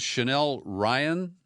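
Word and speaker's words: Chanel Rion: Her name is Chanel Ryan. I think it's pronounced that way, R-I-O-N.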